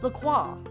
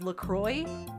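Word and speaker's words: LaCroix: I feel like I when I was just reading it thought it was lacro lqua because I I took French in school. But then I learned it was Lacroy.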